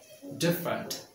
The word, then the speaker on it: different: big family okay next different two syllables not div different okay two simple different